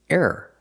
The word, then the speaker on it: error: the second word is error error you can say error or you can say it fast error error it's still two syllables I like to breathe